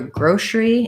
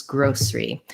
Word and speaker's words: grocery: And the viewer is saying sometimes they hear grocery and sometimes grocery. So both are correct. I personally say grocery, where I'll say it like grocery.